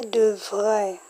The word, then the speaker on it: devrait: So, note the different pronunciation. In future simple, that's future tense, you say devrait with an R. Excuse, devrait with an R. Why imparfait doesn't have an R? Letter R is devait.